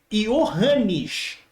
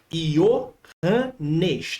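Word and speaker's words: Johannes: povos Vamos lá eh você talvez não saiba pronunciar esse nome Provavelmente tem origem holandesa então é yanes Ianes tá bom yanes blau bem facinho yanes Plau coloquei aí direitinho a pronúncia para você erudita em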